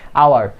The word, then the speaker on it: hour: Next and the last word is hour. এখানে কি এস কে আমরা সাইলেন্ট হিসেবে পাচ্ছি, এটা কি হাওয়ার হবে না, it will be আওয়ার। সো বন্ধুরা আজকে এই পর্যন্তই।